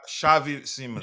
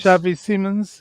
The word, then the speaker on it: Xavi Simons: And the um the deal for uh um Javi Gerald Gerald Sim Se Simmons um Shavei Simmons. Shavei Simmons.